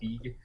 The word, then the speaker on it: Feig: Is that Paul Feig? Is that how you say his name? Yeah, Paul Feig.